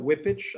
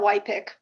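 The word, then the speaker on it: Wypych: Next, we will hear from Whippich. I hope that I've pronounced your name correctly, ma'am. Hi, it's Whitepick, but that's okay.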